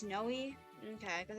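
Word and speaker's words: Neimi: Ni pronunciation. I've always said Naui, but I've heard people say Noi as well. It's Noi.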